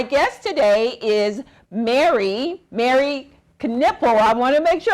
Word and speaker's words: Knippel: last name for me canipel we pronounce the k yes all right very